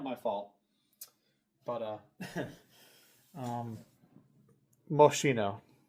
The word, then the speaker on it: Moschino: fault, but uh um Moshino or Moschino I should say. It's probably pronounced Moschino but 1990 Moschino Pom.